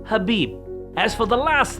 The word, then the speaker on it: Khabib: It's not Khabib or Kabib or even Kebab, it's simply Habib.